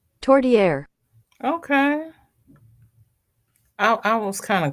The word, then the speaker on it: Tourtière: Do they have the pronunciation on there? By the by. Everybody else wants to know too. Tourtière. Tourtière.